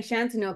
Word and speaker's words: Shantanu: Okay, and then we've got, say your name, Shantanu, because I'm just making it up. Is that how you say it? Yeah, it's Shantanu. You're right.